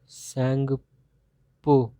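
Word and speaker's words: Tsangpo: ये देखो लिख दे रहा हूँ नाम, इसको कहते हैं सैंगपो। ठीक है, टी साइलेंट है इसमें तुम्हारा।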